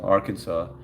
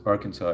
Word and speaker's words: Arkansas: Somebody was from Arkansas. It's funny because Tag until you He was He was on the live and he someone wrote Arkan- Arkansas and he kept on going Ar-Kansas, Ar-Kansas.